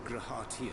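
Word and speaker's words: G'raha Tia: Thy true name is Grahatia, then. So that's how you pronounce it.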